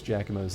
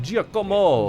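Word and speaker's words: Giacomo: I can't believe I actually remember how to pronounce Jakamo's name though, Jakamo. Because you see that spelling, Jako, and you'd think it'd be like Jamo.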